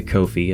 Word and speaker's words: Ko-fi: You can buy me a Ko-fi, it rhymes with no fee.